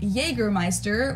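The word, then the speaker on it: Jägermeister: pronounced yea in germana English speakers usually say Jagermeister which is pretty much the same just with a pretty thick accent and people also often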